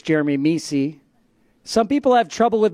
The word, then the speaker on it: Mesi: dr pete saying my name correctly it's jeremy mesi some people have trouble with my last name